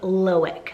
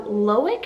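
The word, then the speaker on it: Loïc: So for L, this one is the name Loic, so spelled L-O-I with the 2 dots, C. So Loic is actually pronounced a little bit different if you move over to Europe.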